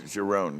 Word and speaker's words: Cherone: And the Gary, how do you pronounce Gary Cherone. Cherone, yeah.